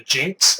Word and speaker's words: GNX: opinion next up is the GNX or the jinx as some people like to pronounce if I'm going to